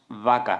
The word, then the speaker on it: vaca: in your book, and the words with V you will see that there is more vibration in the vocal cords and for example we would say "vaca" (cow).